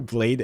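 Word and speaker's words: Bladee: Uh, but Blade, because he has two E's and Blade frequently gets called Bladey.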